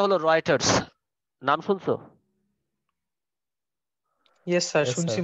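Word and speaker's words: Reuters: দেখছো এটা আগে আর চি না স্যার এটার উচ্চারণটা হলো রাইটারস নাম শুনছো ইয়েস স্যার শুনছি মনে হচ্ছে হ্যাঁ কিন্তু এটার বানানটা আসলে রাইটার্স এর মত হয় না আর ইউ টি ই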